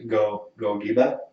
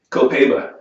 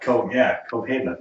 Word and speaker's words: Copaiba: The Gogiba. How do you pronounce that? Copaiba. Copaiba.